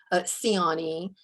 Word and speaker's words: Ciani: name and i have a last name that uh people who speak the romance languages want to pronounce in ways that our family does not pronounce so i always provide a pronunciation of my name siani and ask students for